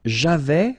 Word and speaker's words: avais: J'avais, final S not pronounced.